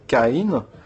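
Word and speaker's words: קין: Et en l'occurrence K1 qu'on prononce en hébreu Kaï est une racine de kina qui veut dire jalousie.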